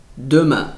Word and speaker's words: demain: U, excursion de demain. Esse som do E lembra um pouquinho a boca do U, né?